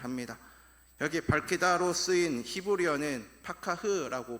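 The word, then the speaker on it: פָּקַח: 여기 밝히다로 쓰인 히브리어는 파카흐라고 발음을 하는데 닫혀있던 눈을 열어준다라는 뜻이 담겨져 있는 단어입니다.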